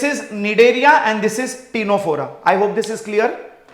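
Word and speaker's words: Ctenophora: phylum is called phylum टीनो फोरा क्या कहेंगे टीनो फोरा अब आप बोलोगे सर यह दोनों सी से स्टार्ट हो रहे हैं लिसन केयरफुली यह सी और यह सी साइलेंट है अब इंग्लिश में कुछ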